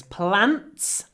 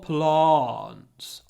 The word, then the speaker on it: plants: So it's plants, or plants, double sound, plants.